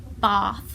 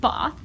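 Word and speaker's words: Bath: I think and then we went off to baa as I'm told I have to pronounce it instead unless I'm from the north it's pronounced Botha so we were there for actually lovely town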